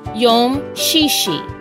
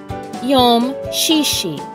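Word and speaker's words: יום שישי: pretty simple to say in the Hebrew it's pronounced Yom shishi Yom shishi now you try yum shishi and finally we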